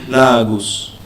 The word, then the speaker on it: Lagos: Lagos is actually pronounced Lagos. Okay. So, it was named by the Portuguese.